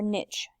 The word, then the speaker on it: niche: organism's habitat and its niche or niche either pronunciation is correct here is the vocabulary